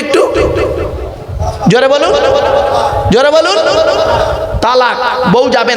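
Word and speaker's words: طلاق: খবরদার শব্দটা তালাক নয়, তালাক নয় শব্দটা, শুনে যান। শব্দটা হলো তলাক। তলাক কি বললাম? তলাক বলো। আরবি উচ্চারণ কি? তোয়ে লামালিফ কফ। বাংলা উচ্চারণ কি? তয়ে বয়ে লয়াকার ক।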